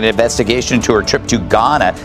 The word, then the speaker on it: Ghana: LA Mayor Karen Bass is demanding an investigation into her trip to Ghana. The age is silent.